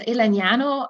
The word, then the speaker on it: Elegnano: I'm the founder of Elegnano. The name is actually literally a combination of the words elegance and nanotechnology, and then pronounced the Italian way, which is a good summary of what we do.